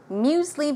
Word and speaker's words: muesli: And one final word, muesli bar, very similar to an energy bar. There are two ways to pronounce it, either muse with an S sound or amuse with a Z sound.